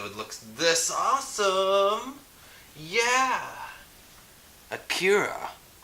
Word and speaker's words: Akira: looks this awesome yeah a cure I believe that's how you say it Akira so and just so